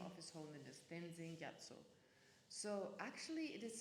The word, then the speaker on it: Tenzin: But in Tibetan you say Tenzin, but you spell it Stenzin.